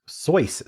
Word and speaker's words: Seuss: I only know Seuss to rhyme with loose. Soyce sounds like the noise a character in one of his books might make.